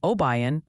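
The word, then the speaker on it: Obion: They're gently suggesting it's Mandless, Pennsylvania. Apparently, there's no candy and Oan County for that spot in Tennessee.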